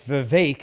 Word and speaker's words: Vivek: NetJez $5 says, Viva, it's Vivek as in cake, Vegas attendee, not just as in Jessica.